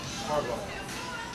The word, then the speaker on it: Kargo: Cargo. Like, The cargo truck. It's spelled different. Kargo. But it's pronounced cargo.